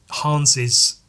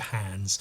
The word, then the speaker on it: Hans: taggers um and in hans's there's a voice saying Hans so that's why I'm pronouncing it Hans as opposed to hands although hands would make